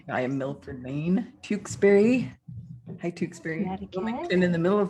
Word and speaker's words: Tewksbury: Hi, Tewksbury. Wilmington in the middle of my book. Yay! Woo. Remarkable book. Sharon's from Tewksbury. Am I pronouncing Tewksbury right? Tewksbury. Tewksbury. Oops.